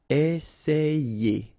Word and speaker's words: essayer: And then you've got another E here, and then you get the sound ye. Essayer.